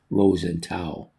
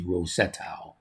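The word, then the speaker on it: Ro-Setau: I thought it was Rose and Tau, but I had it copied right. So, it's actually Rosetau.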